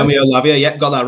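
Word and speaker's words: Roméo Lavia: Yeah, and the next name, Tom, it's a player I know, but I will have to check the pronunciation. It's Romeo Lavia. Is that right? Romeo Lavia, yeah, got that right.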